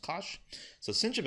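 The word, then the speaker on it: cosh: thing is pronounced cinch and this pronounced Kos so cinch of X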